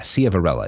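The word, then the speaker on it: Ciavarella: judges mark Cella uh and Michael conahan yeah Cella is how it's pronounced more or less now Mark a Cella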